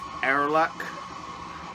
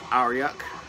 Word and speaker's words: Aorlhac: French well this band I initially thought was pronounced our luck they're not it's pronounced our yuck it is spelled 8o RL h AC and